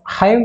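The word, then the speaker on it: hymn: सी J famous हाइम writer and poet, ये देखना word लिखा हाइम हिचवई एम एन आपको हिम बोली पढ़ जाए किंबा हाइम पढ़ जाए, किंतु हाइमन बोली पढ़ी है एंडा साइलेंट रही है माने कौन धार्मिक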